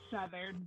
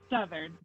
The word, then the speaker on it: Southard: Did I pronounce that properly? It's Southard, but close enough. One more time. Southard.